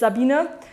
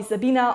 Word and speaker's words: Sabine: Irish I guess was my name that is equally difficult to pronounce for foreigners than the traditional Gaelic names because it's Abuna usually people call me Sabina or Sabine or Stan calls me sabayon that's all so anyway